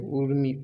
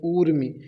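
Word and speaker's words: ऊर्मि: Connect करा सकते हो, उर्मी, उर्म नहीं ऊर्मी, मतलब बड़ों की मात्रा, तो आप तेज में उच्चारण करेंगे ऊर्म, क्यों दीर्घ है ये, तो तरंग किसका पर्यायवाची, ऊर्म का।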